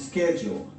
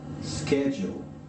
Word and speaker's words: schedule: the task ahead of schedule ahead of schedule or Let me Tell you here in Australia most people pronounce this schedule so in American english you have schedule Enton pensó terminar